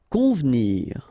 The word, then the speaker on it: convenir: Convenir. Okay, so the here is not really pronounced, so first you've got this nasal, on, convenir, convenir.